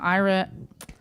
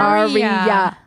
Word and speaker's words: Arya: You know, Ira. It's 3 syllables. Arya.